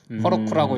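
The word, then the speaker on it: Heroku: 제일 눈에 띄는 게 자기들 발음 기호에 대해서 명확하게 말했어요. 허로쿠라고 읽어라.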